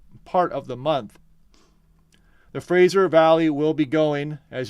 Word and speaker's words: Fraser: going by Sunday night you got to pronounce that with an S it's Fraser River Valley it's not Frasier sometimes I get tongue twisted and I'll say Frasier but it's Fraser and Seattle uh let's